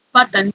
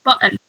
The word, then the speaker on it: button: So you don't physically pronounce the T, so it's not button, but it's button.